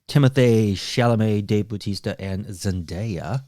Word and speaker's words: Zendaya: dave bautista and zendaya zendaya nope zendaya zendaya okay i watched two youtube videos where someone called her by her name and it's zendaya oh okay yeah i thought it was in diet i'm saying it wrong almost all the time i know it's zendaya well she's amazing she